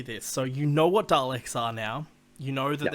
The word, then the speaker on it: Daleks: So you know what Daleks are now. You know that it's pronounced with a D and they're not Garlics.